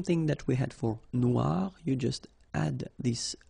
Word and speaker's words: noir: So it's quite funny because you will have to add this E at the end of noir for the feminine form, but then you don't pronounce it. Okay, so phonetically, it is exactly the same.